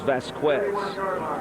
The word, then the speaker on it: Vasquez: The correct pronunciation for his name is Vasquez.